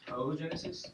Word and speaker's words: oogenesis: And pronounce again, oogenesis? Oogenesis, yeah. Not oogenesis? It's not oogenesis, right? The good thing is, the names of the cells carry over.